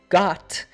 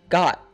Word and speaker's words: got: Then the final T in the word got is a glottal T. That means that it is cut off at the back of the throat. So instead of saying got, we say it like got. Altogether, show me what you got.